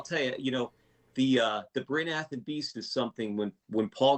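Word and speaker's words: Bryn Athyn: So I'm probably going to pronounce this wrong, but tell our listeners about the Bryn Athen Beast.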